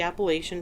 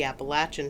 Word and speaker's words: Appalachian: the Appalachian Trail and sometimes it's called the appalachin trail I believe appalachin is actually the most recognized correct way to say it and it really just comes down to what part of the East Coast you happen to live in I say Appalachian